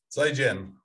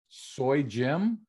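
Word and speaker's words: 再见: If you were to try and spell it in English, yeah, it'd be Z-I and then J-I-A-N, probably as close as you'd get.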